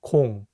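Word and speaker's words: 공: let's take the word Kong which means ball in Korean Kong has the vowel o which makes the round o sound now let's take another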